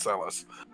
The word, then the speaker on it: Celes: No, they actually pronounce Celis in World of Final Fantasy, so we find out it's Celis.